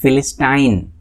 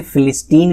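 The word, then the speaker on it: philistine: Next one इज फिलिस्टाइन। आप इसे फिलिस्टीन भी प्रोनाउंस कर सकते हैं, फिलिस्टीन और फिलिस्टाइन।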